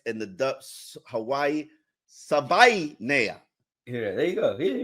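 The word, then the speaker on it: Savaiinaea: This is a big deal for him to pronounce his name, so we're going. Savai Nea.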